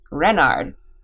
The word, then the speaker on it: Renard: is king renard iv renard with the accent on the ren what's wren asked button